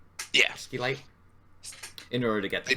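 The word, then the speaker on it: Scheelite: caves, searching for the Sheelite, right? Is that what it's called? Yeah. Skeelite. In order to get the tungsten. They pronounce the SCH weirdly, like weirdly hard. I think it's just Sheelite.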